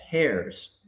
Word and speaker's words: Ayres: say his name and I didn't pronounce the H correctly. And I remember, Simon, you corrected me. It's hairs.